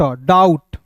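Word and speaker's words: doubt: तो इसे पढ़ेंगे डी ओ यू डाऊ और बी का साइलेंट करेंगे टी का ट डाउट एच का ह एन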